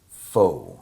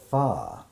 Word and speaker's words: Phở: it looks the way it's spelled it everybody pronounces it foe right and so but that's what we're going to make today is uh faw and my first experience with faw was when